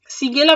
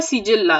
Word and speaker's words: Shigella: 7 নম্বর প্রশ্ন, সিগেলা বা সিজেল্লা এই একটা ব্যাকটেরিয়ার নাম, যেটা মানে যে যেরকম উচ্চারণ করতে চাইবে, যার জন্য আমি পাশে ইংলিশটাও দিয়ে দিচ্ছি, SHIGELLA। তো সিগেল্লা বলো, সিজেল্লা বলো, হোয়াট এভার ইউ ওয়ান্ট।